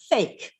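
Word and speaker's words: PHEIC: Fulmick said earlier, the acronym for that is pronounced fake.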